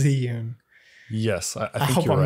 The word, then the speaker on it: Zhiyun: zhiyun oh not because i think i said zion last time and we got a comment and i believe it was ziyun yes i hope i'm